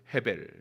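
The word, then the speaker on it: הבל: 얼마나 안타까운 인생 입니까 우리가 아벨이 라고 발음하는 아벨의 히브리어 발음은 해 벨 입니다 이는 아무것도 남기지 않고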